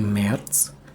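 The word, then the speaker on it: März: Bacanya Marz karena ada Aum laut. Aum laut itu ya mirip-mirip ke e lah. Jadi dibacanya Marz. Lalu ada April.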